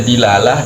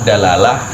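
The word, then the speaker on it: دلالة: Bisa dilalah, dalalah, dan dulalah.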